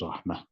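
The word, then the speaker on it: رحمة: So obviously the biggest thing is we have to teach them, when you stop on it, it has a sukoon, as a result it becomes Rahmah.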